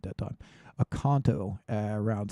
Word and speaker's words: Oconto: Oconto around 6 p.m.